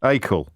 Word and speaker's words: Acle: How do I pronounce that? Acle. Acle.